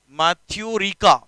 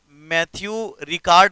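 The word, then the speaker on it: Matthieu Ricard: इनका नाम है मैथ्यू रिका। मैथ्यू रिका, जिसे आप मैथ्यू रिकार्ड नाम से भी उच्चारण कर सकते हैं।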